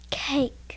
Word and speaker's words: cake: cakey it's just cake so the e is silent here's another one vase